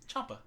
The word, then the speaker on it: Ciampa: Ciampa's how that last name is pronounced. Ciampa.